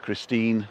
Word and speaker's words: Christine: with my wife christine spelt christine but we actually pronounce the e on the end christine nick because she's